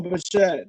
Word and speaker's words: Bichette: Bo Bichette, there you go. Bo Bichette, this dude was a freaking killer.